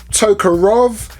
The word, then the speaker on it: Tokarev: heard people pronounce this Tokarev, Tokarov. What is it? Tokarev or Tokarov? Even though it looks like Rev, many pronounce it Rov.